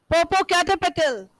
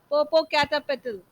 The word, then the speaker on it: Popocatépetl: What was the pronunciation that I told you yesterday? Popocatépetl. So those who are here in offline class will speak after me in one go. Popocatépetl.